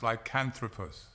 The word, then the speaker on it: Lycanthropus: It is pronounced lycanthropus.